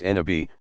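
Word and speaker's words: نبي: Every prophet, Nabi, pronounced Nabi, passes along the divine word to a particular people and inevitably meets with tremendous resistance, at least initially.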